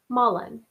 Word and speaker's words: mullein: that i learned about it it's called mullen it's spelled m-u-l-l-e-i-n mullen you can grow it it grows everywhere here